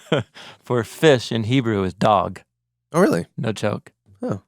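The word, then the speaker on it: דג: With an A sound, which I guess if you spelled it D-A-G in English, you would say, dag. Want to say dag. That's not. It's pronounced dog.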